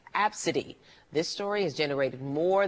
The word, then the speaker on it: Abcde: is filled ABCDE and pronounced AB city this story has generated